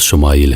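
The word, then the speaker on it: יִשְׁמָעֵאל: خوشخبری سنا دی گئی۔ عبرانی زبان میں اسماعیل کا تلفظ شمائیل ہے۔ شما کے معنی ہے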